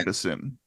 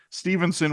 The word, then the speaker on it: Steveson: That's how I recall hearing it in the Olympics was Stevenson without an N. Stevenson. So it is Stevenson without an N.